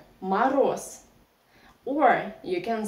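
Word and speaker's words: мороз: about Russian reduction here ma Ros the stress is on the last syllable that's why first all we pronounce like ah don't forget about another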